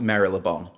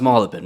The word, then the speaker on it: Marylebone: Yep, and just for any Americans that would like to listen to this, it's definitely not pronounced Marylebone. Yeah. It's definitely pronounced Marylebone, right?